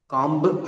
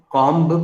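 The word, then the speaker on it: comb: कॉम्ब, अगर कोई आज से पहले कॉम्ब बोलता हो तो आज के बाद कॉम ही बोलेगा। कॉम, बॉम्ब। आमतौर पर जब आखिरी में बी आता है दोस्तों तो वो साइलेंट होता है।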